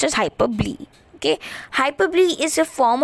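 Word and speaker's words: hyperbole: start with hyperb even though the spelling says hyperbowl it's pronounced as hyperb okay hyperb is a form of exaggeration everyone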